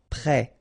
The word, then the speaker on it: prêt: Final T not pronounced. Accent circonflexe like that phonetically gives you the sound. Prêt.